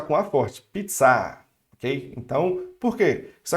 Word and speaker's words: pizza: Eu vou pronunciar com a forte, pizza, ok? Então, por quê? Isso acontece porque é uma palavra estrangeira, e como é uma palavra estrangeira, os franceses, eles sempre pronunciam a sílaba forte, a última, ok?